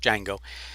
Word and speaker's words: Django: and by the way the d is not pronounced just django and what i like